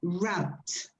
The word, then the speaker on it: wrapped: So it's a special dish, wrapped. Remember ED pronunciation. Wrapped. Wrapped. Wrapped. That's it. That's like a it. tea? Like a T, because it's produced only with your lips.